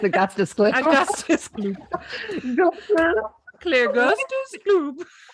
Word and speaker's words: Augustus Gloop: Gustus Gloop. Or no, it's Augustus Gloop.